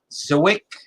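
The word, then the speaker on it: Żywiec: in poland i think the company is pronounced uh sawick it's a wick it's it starts with a z and it's pretty it'll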